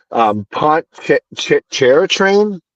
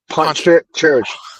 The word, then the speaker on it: Pontchartrain: Pontchartrain, Poncha, Pontchartrain.